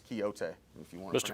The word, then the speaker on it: Quixote: Parsons, it's Quixote, if you want to pronounce it correctly.